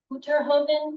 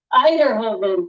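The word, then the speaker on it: Uyterhoeven: We're also expecting Representative Erica Uterhoven. Am I saying that correctly? Is that? No, I'm not saying it correctly. I'm doing it terribly. I'm going to ask for help from Eiderhoven.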